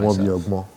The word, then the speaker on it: Awon Biogbon: Awon Biogbon. That's how I usually pronounce it myself. Awon Biogbon.